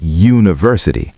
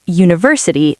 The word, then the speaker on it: university: Even though U is a vowel, it sounds like university, starting with a Y sound. So we say a university, not an university.